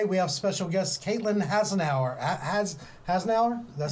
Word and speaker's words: Hasenauer: Today, we have special guest Caitlin Hasenauer. Hasenauer? Did that say her? I always trip over your name or feel like I'm gonna. Yeah, no, everyone does. It's Hasenauer. Hasenauer? Hasenauer. Yeah. It has an R.